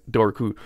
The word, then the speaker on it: Dobhar-Chu: k um not jimmy choos the shoes but dorku um this is said on occasion uh it's